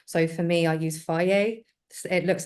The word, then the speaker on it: Fage: So for me, I use Fage. It looks like it's spelled Fage, and it's got a few I've said strains fish for added. so long. Fage. It says it on the side, so pronounced Fage.